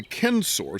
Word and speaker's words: censor: Well, the Kensor C N S O R classical Latin pronounces it with the hard C, uh, was in charge